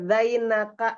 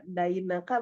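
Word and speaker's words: زينك: dan ee penulisan ee zainaka itu kalau Kalau salah baca jadi kayak Daina Kak berarti hutang kamu gitu.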